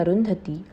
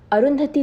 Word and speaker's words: Arundhati: named after the sun her name divides into two syllables arun and dhati which mean washed by the rays of the mighty sun arundhati led a life that